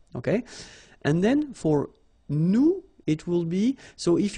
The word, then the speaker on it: nous: if you remember correctly, so final S is not pronounced here. Okay, and then this O-N, so it's a nasal and it goes in your nose and it goes like on.